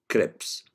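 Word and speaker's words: crypts: the t okay sorry so the t is silent so the polarization is crips so they are extended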